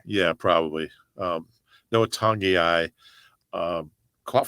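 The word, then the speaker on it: Togiai: I like the fact that Noah Tangiai, and I think now that he's playing, I kind of have to pronounce his name correctly. Tangiai.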